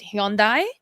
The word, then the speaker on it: Hyundai: pronounced car brands okay it was Hyundai H Yu n d a i is Hyundai I think there was a few other brands that I'm like wow Americans pronounce is really I mean Toyota is hiota um Kia is Kia which is pretty easy but like Hundai always like conf confused me um yeah I've heard Hyundai